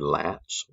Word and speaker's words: lats: again this is your lats don't call them the latch you're only gonna get a half point latissimus dorsi or dorsi